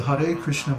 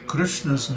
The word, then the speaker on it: Krishna: the correct pronunciation of krishna's name is there's no Krishna there's no I sound in Krishna it's Krishna Krishna k